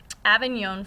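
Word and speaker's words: Avignon: Italy so the elected Pope moves to um Aenon France so this is is how you pronounce that remember that was one of our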